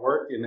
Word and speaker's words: Morten: that so so the way that that we pronounce it I would say is Morton or Morton and then the and the last